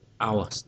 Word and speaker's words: hours: Trong cái từ hours này, cái từ H không được đọc.